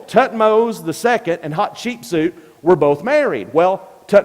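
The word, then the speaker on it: Hatshepsut: firmly believe it was hot cheap suit now the way you pronounce her name is hot cheap suit a hot too cheap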